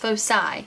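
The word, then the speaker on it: foci: is a focus and the plural of focus is pronounced fosi of the ellipse what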